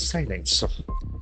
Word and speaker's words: silence: You criticize severely government's silence. SILENCE. So that is a beautiful noun. Silence. The letter I has got I sound.